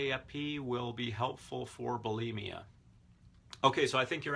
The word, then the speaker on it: bulimia: and I heard a linguist recently saying it's pronounced bulimia which is interesting because you do hear so many people saying bulimia Valerie says I'm so excited because things that's